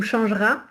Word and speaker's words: changera: je dois bien prononcer, ou changera, il faut que j'entende vraiment le son R.